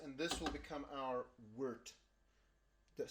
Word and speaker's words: wort: out of this, and this will become our wort. That's spelled W-O-R-T but pronounced wort, and that's the basis for our beer.